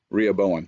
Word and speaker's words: Rehoboam: say this word anyway solomon's son rehoboam is that how you say it rhea bowen thank you okay um he was